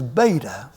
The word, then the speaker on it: beta: letter second letter is beta you begin below the line come up and you form what looks like an English B and it is simply pronounced like the be in Bat like the be in